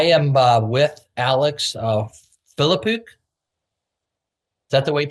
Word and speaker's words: Filipuk: I am uh with Alex uh Philipuk. Is that the way you pronounce it, Alex?